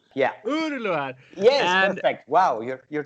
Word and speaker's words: Uğurluer: Uğurluer, yeah, that G with a thing on top of it is a silent G in Turkish, actually. So it's like a long U. Yeah. Uğurluer.